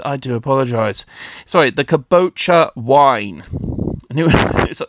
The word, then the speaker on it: Kabocha: yeah um oh the caboa wine I am so sorry I have been saying it wrong this whole time I am so sorry the caboa wine not Kadota caboa I if I said